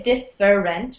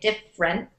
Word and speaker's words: different: We don't say different. We say different. Two syllables.